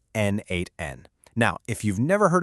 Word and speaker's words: n8n: And by the way, it's pronounced N8N.